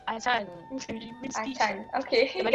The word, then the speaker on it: Ajahn: It's not Ajan, it is Achan. I actually took Thailand classes, so I know how to pronounce that. It's Achan.